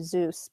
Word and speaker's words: Seuss: I say Seuss, but my my in-laws being from Britain, they say Zeus, but Dr.